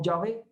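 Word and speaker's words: Yahvé: literal quedó como jehová por ejemplo la iglesia tradicional y la iglesia católica ellos pronuncian el nombre del señor como ya ve correcto como sabe muy bien nosotros lo pronunciamos como jehová indistintamente los dos son correctos correcto los dos son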